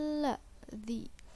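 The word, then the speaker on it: الَّذِي: lima roket ya ayyuhal la-adzii hukumnya alif lam syamsiah karena huruf alif lam bertemu huruf Syamsiah itu lam dibaca idgham yakni masuk ke huruf lam ya ayyuhal ladziina hukumnya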